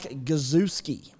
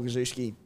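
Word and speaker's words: Gosiewski: Gajewski. Who is this Gazewski? No, he's a pass. Why not just call him the Goz? He's the Goz. Think of jet ski. Jet ski.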